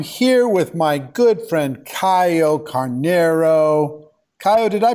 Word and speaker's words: Caio Carneiro: our show I'm here with my good friend Caio Carneiro Caio did I pronounce all that right perfect always perfect it's